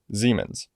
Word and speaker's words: Siemens: This plugin's modeled after an EQ by a company called Siemens, or in German, Siemens.